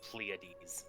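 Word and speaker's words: Pleiades: It's by the way, it's pronounced pleades.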